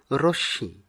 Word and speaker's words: রশ্মি: আর পরেরটি রশ্মি, অনেকে আমরা ভুলবশত রশ্মি উচ্চারণ করে থাকি, কিন্তু সঠিক উচ্চারণ হবে রশ্মি।